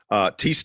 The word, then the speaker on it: Thijs: Thijs de Ridder is his name. His first name's spelled kind of weird, but it's pronounced Thijs.